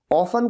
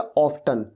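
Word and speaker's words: often: ऑफन को आप ऑफन या ऑफ्टन दोनों तरीके से प्रोनाउंस कर सकते हैं, ब्रिटिश और अमेरिकन इंग्लिश वाली बात है।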